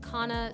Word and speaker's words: kanna: world of Kaa now K Cana I've heard people pronounce this differently I've seen more people pronounce it Kana so for practicality we will be calling it Kaa in this video and today we are